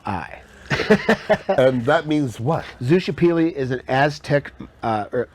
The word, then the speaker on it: Xochipilli: i l l i and that means what zusha pili is an Aztec uh or basically ancient mystica